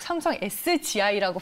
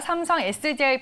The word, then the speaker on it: 삼성 SDI: 제가 삼성 SDI인데 계속 삼성 SGI라고 발음했나봐요. SDI로 정정을 해드리겠습니다. 삼성 SDI 밸류체인 한솔 로지스틱스 저희가 먼저 첫 번째 종목으로 분석을 해봤고요.